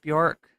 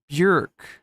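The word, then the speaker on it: Björk: Did you know, chat, by the way, that her name is not pronounced Bjork? I have to say Bjork when I'm talking about her, because that's how everyone pronounces it. But she says that it rhymes with jerk, right? So it's supposed to be pronounced Bjork.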